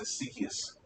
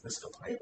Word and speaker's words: Asclepius: And I believe that's Ezekias. Any Greek scholar want to correct me? Because I think it's Ezekias. Wasn't it Asclepius? Yeah. I always say that wrong.